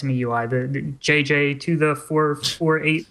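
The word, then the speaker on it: MIUI: I'm saying my UI, it's me UI.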